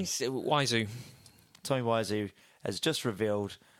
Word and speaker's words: Wiseau: How do you say his name? Waizu.